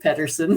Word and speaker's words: Pederson: So my name is Pederson, and I am actually a psychic medium in Omaha, Nebraska. Sorry. It looks like Pederson, but it is actually Pederson.